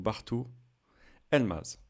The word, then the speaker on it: Bartu Elmaz: Je précise juste que le G mouillé, donc le G avec accent grave, ne se prononce pas en turc. Il accentue la voyelle précédente, donc Bartu Elmaz.